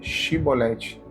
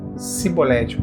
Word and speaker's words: Chibolete: E dizendo ele não, eles diziam: "Fala pois a palavra chibolete". Porém eles diziam cibolete porque não conseguiam pronunciar corretamente.